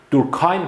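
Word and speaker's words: Durkheim: دورکیم سویساید. دورکایم هم گفتم میتونید تلفظش کنید.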